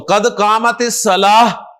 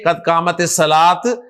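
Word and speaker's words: قد قامت الصلاة: की अदायगी कैसे है तो कद कामत सला हा के साथ प्रोनाउंस करें कद कामत सला ना के कद कामत सलात क कामत सलात तो माशाल्लाह आप कुछ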